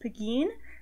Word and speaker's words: Pegeen: it's an Irish name it's spelled PGE it's pronounced Pegeen and it's like the Irish version of Margaret